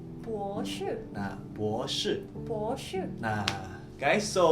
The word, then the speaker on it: 博士: 硕士 Nah, ini yang terakhir profesor itu kita bacanya S3, kita bacanya itu 博士. 博士 Nah, 博士.